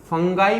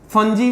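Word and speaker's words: fungi: फंगाई मैंने बोला था, फंजी भी उसका प्रॉपर स्टैंडर्ड प्रोनाउंसिएशन है, बट आप फंगी, फंजी, फंगाई जो भी बोलने से चलेगा।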